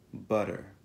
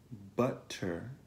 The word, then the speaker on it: butter: La T contenuta nel mezzo di una parola va pronunciata come una D veloce, come in butter. Butter. Non è butter, ma butter. Butter. Butter. Questo è chiamata T-voiced.